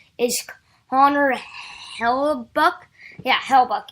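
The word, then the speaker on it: Hellebuyck: honor hello buck yeah he'll buck I'm that's how I pronounce his name um so the Jets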